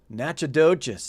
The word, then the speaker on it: Natchitoches: Natchitoches. That's how you pronounce that, by the way.